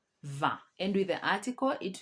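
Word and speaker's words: vin: wine is very because i n is pronounced as a va and with the article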